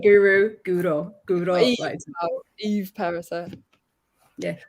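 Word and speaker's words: Perisset: By the way, while we're talking about pronunciation, it's Perise. Not Perise. It's Perise. Perise. Yeah. Oh, it's sorry. Emphasis is on the second syllable.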